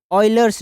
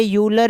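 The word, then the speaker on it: Euler: ठीक है, इसकी प्रोनाउंसिएशन क्या है, ऑयलर। ठीक है, ऐसे करके ऐसे आप याद कर सकते हैं, ऑयलर। ठीक है, ये यूलर या फिर ऐसे नहीं, इसकी प्रोनाउंसिएशन है ऑयलर्स।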